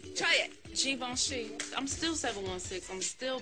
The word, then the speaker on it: Givenchy: Givenchy. Oh, it's French. Try it. Givenchy.